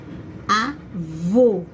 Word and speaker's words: avô: Avô, como é fechado e eu preciso reforçar essa sílaba, senão fica avo, né?